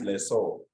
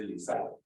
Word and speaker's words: lessor: Anyway, the correct pronunciation, which some people disagree, is lessor. People from Nairobi say Lisa.